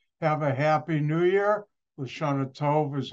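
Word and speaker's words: L'Shana Tovah: Lashana Tov is how you say it in Hebrew.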